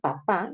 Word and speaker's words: papá: Recuerden que el papá, la palabra papá lleva tilde, así como mamá. En el caso de papá, si esta palabra no tuviera tilde, entonces sería papa. Y si empieza con mayúscula, estaríamos hablando del Papa Francisco, ¿no?